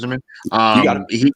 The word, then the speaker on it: Yzerman: They brought in Steve Yzerman. Is it how you pronounce his name? Yep. Yzerman.